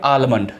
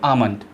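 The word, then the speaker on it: almond: को हम बोलते हैं आलमंड, ठीक है, लेकिन क्या वास्तव में आलमंड है? जी नहीं, इसको बोलते हैं आमंड, आमंड, आमंड इसको बोलते हैं। एल इसमें साइलेंट रहता है, ठीक है, एल इसमें साइलेंट रहता है।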